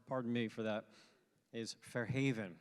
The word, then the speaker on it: Fair Haven: me for that is Fair Haven right with the accent on the on the second syllable all right so everybody